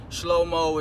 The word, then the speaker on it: Shlomo: Shlomo is basically how you pronounce it in Hebrew.